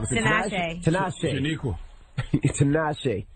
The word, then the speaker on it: Tinashe: I can't pronounce it wrong. Is it Tinashe. Tinashe.